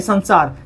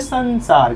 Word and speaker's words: संसार: अगर स्पर्श व्यंजन से हट करके कोई भी वर्ण हो तो उसका उच्चारण न में ही होता है। आप यहां देखिए, संसार है, संसार, स के ऊपर बिंदु है, इसके बाद ये क्या दिख रहा है? स। क्या कवर्ग, चवर, टवर, तवर पवर्ग में आता? नहीं आता। तो इसका उच्चारण न में होगा, तो इसको हम लोग क्या बोलते हैं? संसार।